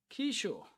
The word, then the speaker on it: Kiso: Kisho. The baby boy name Kiso is pronounced Kisho.